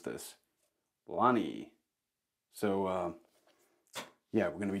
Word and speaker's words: Lønny: How do you actually pronounce this? Lonny.